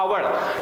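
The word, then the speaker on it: hour: है होवर ठीक है होवर पढ़ा जाता है अवर टी इसमें हमारा ओ ए गैस जो है वो साइलेंट है तो वो आगे यानी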